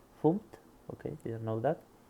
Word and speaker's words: fmt: You're using a function in the FMT, usually pronounced as funct.